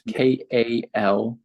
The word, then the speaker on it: Kalush: Spell it for me again. For Kalush, it's Kalush.